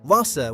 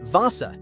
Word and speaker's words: Wasser: Wasser, water, say it Wasser.